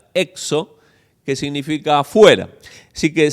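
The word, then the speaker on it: ἔξω: Y luego hay otra palabra que se pronuncia exo, que significa afuera.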